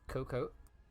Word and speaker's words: Cocoa: out from FK coca-cola cocoa alright they under team page it's a silent a just pronounce it as cocoa all stuff then coming